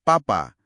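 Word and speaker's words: 爸爸: Jadi kalau Anda lihat kata B A B A itu enggak dibaca babak melainkan papa yang artinya ayah.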